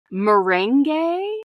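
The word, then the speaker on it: Mürren: my heart I want to say it correctly Mor basically like mering like have you ever had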